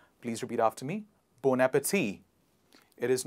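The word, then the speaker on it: bon appétit: what do you say bon appetit or born appetite it is the right pronunciation is bow bow nap tea please repeat after me bon appetit it is not bon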